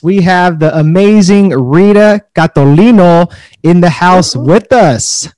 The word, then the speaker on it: Catolino: just a great pronunciation i'm just honored you pronounced my last name correctly thank you i i before i hit the record button i wanted to make sure and i said i want to say the italian way so hopefully that came